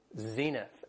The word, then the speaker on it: zenith: Has 2 syllables and the stress is on the first syllable, zenith.